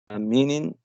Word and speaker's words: meaning: Meaning it has two syllables, meaning, and the stress of is difficult here. Meaning is, I think is the first.